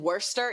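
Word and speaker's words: Worcester: few things in English so it's Downton and Worster y'all just stop pronouncing words down oh don't get me started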